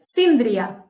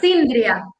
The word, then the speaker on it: Síndria: In Catalan, which is a Roman language, it's Síndria. Sylvia? Síndria. Cindia. Gotcha. So you have another one. Yeah. So instead of an A sound, the syllable, it's got an I.